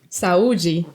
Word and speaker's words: Saúde: Saúde. Perfect. That's perfect. I listened too much Brazilian music, so I think my pronunciation is good.